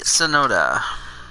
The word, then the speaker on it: Tsunoda: All right, Yuki Tsunoda, because I know the T is silent.